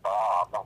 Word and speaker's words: bomb: aters um they're my favorite examples the word bomb with the silent B at the end write